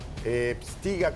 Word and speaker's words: Pstyga: Pstiga, a ver, quiero pronunciar bien tu nombre.